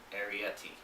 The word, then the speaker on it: Arrietty: the secret world of arietti and i remember to pronounce it that way because it's like aries the sign the constellation but it ends with eti like a yeti or a snowman or